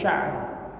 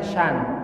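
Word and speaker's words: شأن: La ilaha illallah kulla yaumin huwa fi sya'n. Bisa bacanya sya', bisa bacanya syan. Jangan dipanjangin, syan.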